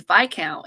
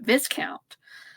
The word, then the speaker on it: viscount: I have to admit, I get tripped on the pronunciation because it was only a few years ago I realized it was by count and not viscount.